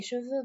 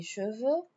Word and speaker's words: cheveux: Les cheveux bruns. Les cheveux chattes. Les cheveux rou les cheveux noirs, les cheveux blancs, les cheveux gris. If you notice, I'm not pronouncing the s or the X.